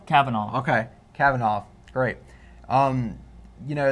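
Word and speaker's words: Kavanaugh: Supreme Court come van it van cabana something Cavanaugh Cavanaugh okay Cavanaugh great you know there's some sexual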